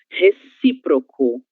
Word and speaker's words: recíproco: Recíproco, sílaba tônica si.